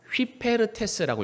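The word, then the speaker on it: ὑπηρέτης: 휘페르테스라고 있습니다. 뭐라고 읽는다고요?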